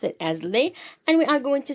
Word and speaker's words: les: will be using Le okay l s will pronounce it as Le and we are going to see some examples